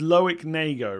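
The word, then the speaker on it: Loïc Rémy: So I'm reliably informed the pronunciation, I'm not even pronouncing the word pronounce right, am I? Is Loic Remy, right?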